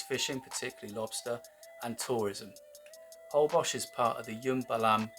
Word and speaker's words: Holbox: Holbox is part of the Yumbalam Biosphere Reserve, and since 1994 it's been protected as an ecological sanctuary.